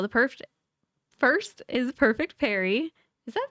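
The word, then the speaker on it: Parry: So the perfect first is perfect Perry. Is that how you pronounce pari? Perry. P A R R Y. Perry. It's Perry.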